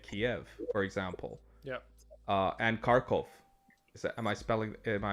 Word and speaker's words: Kharkov: And Kharkov. Am I pronouncing that correctly? Kharkov.